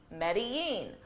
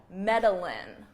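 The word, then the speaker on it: Medellín: Making the pronunciation of this city Medellin, Medellin, which probably still doesn't sound the exact same as a Spanish speaker would say it, but at least I'm a lot closer than my English pronunciation, Medellin.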